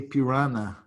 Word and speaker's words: piranha: Did you observe that the English, they cannot pronounce the NH, okay? Yeah. So they say piranha, they say Piranha. caipirinha, okay? Piranhas, okay? They cannot say the nya.